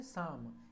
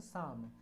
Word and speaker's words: Psalm: और उसे साम भी बोलते हैं। क्या बोलते हैं? साम। इसमें एल भी साइलेंट है और पी भी साइलेंट है, PSALM, साम।